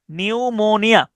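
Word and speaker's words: pneumonia: এনই ইউ নিউ এম ও এন আই এ নিউমোনিয়া।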